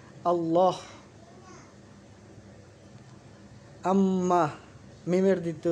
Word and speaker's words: আল্লাহ: যেমন আল্লাহ, এই লামের দ্বিত্ব উচ্চারণ হচ্ছে আল্লাহ।